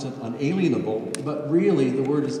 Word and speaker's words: unalienable: Now, we often pronounce it unalienable, but really the word is unalienable, as in